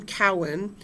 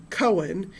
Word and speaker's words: Cowan: Um, I work a lot with Jewish family history and so people see my last name Cowen and they pronounce it Cohen and invariably somebody's going